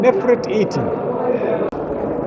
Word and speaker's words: Nefertiti: Because when I say Nefer means beautiful, Nefer for a man, Nefret with T for a woman. So we must say her name Nefertiti.